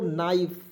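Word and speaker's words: knife: है चलिए इसे पढ़ेंगे के को साइलेंट करेंगे और एन आई एफ ई क्या पढ़ेंगे दोस्तों नाइफ ठीक है जी नाइफ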